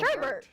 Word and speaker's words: sherbet: Because of Sherbert. Sherbert. Like Bert. Even though, B-E-R-T. but sometimes, like in this, it's spelled sherbet.